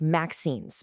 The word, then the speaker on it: MXenes: The name is pronounced maxines, by the way.